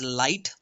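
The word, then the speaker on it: LIATE: We pronounce it as light.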